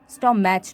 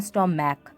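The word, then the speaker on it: stomach: তবে সিএইচের উচ্চারণ যদি কের মতো হয় তখন কিন্তু ইএস যোগ না হয়, সে প্লুরাল ফর্মের শেষে এস যুক্ত হবে। যেমন স্টম্যাক, স্টম্যাচ নয়, স্টম্যাক।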